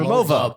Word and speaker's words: Rimowa: So you just pronounce the W like the V. And Remova.